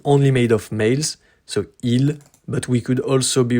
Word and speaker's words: ils: It's the same pronunciation as the third person of the singular.